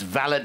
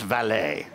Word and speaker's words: valet: that, he said, we're not parking cars, it's valet, not valet.